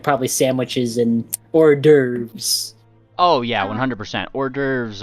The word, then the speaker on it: hors d'oeuvres: Can you get me some hors d'oeuvres? Some of what? Hors d'oeuvres. How do you Hors pronounce it again?